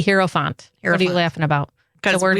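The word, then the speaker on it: hierophant: pulled a card for us today it's the hero Fant the hero font h i e r o p h n t hero Fant you laughing about the word herant we didn't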